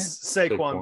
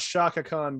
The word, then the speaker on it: Saquon: Say again, Shaquan? Am I saying it right? Saquon Barkley. Yeah. Saquon. Okay, Saquon Barkley. Yes, it's not Shaka Khan Barkley.